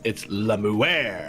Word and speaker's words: Lamuer: I think the emphasis has to be on the air. Lamuer. It's Lamuer.